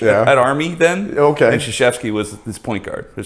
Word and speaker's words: Krzyzewski: And the guy goes, it's pronounced Krzyzewski.